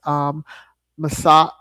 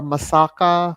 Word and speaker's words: Masaka: Watch that, as well as Masala or Masaka, because it's spelled Masaka.